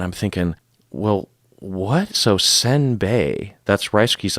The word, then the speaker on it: senbei: to me to be simbe, and I was like, "Oh, simbe." And my friend's like, "So what did you say?" I said, "Simbe." He's like, "No, it's senbei." Oh. Both syllables are wrong.